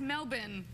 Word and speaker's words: Melbourne: It's Melbourne.